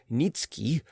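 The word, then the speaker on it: Nicki: was that a certain polish nobleman nikki pronounced nitsuki had obtained the special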